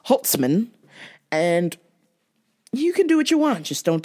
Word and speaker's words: Holtzman: fighter Scott sauce and Scott hot sauce Holman and let me say it right it's got hot sauce Holtzman and you can do